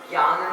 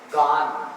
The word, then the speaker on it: गान: इति पुष्पांजलि छिपामी उदक चंदन तंदुल पुष्प कंचर सुदीप सुधूप निहार धवल मंगल ज्ञान नहीं बोलते यहाँ पर, गान। क्या उच्चारण आएगा? गान।